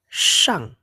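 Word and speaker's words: 上: Shang, nada keempat ya.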